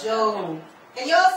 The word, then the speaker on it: Job: So it's like Joe, American English, Joe plus P. So it's Joe. Can you all say it? Joe. Amen. So we've learned one thing already tonight. Joe.